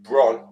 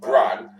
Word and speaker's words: Bronn: That's Bronn, not Bran.